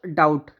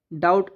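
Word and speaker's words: doubt: ऐसी एक वर्ड हो गया डाउट। डाउट। अब यह यदि नॉर्मल तरीके से तो डाउट हो रहा है। लेकिन इसमें बी साइलेंट है।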